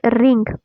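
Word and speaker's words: wring: वो है रिंग। रिंग का मतलब क्या होता है? रिंग होता है। ठीक है? देखिए यहां पे डब्ल्यू साइलेंट है।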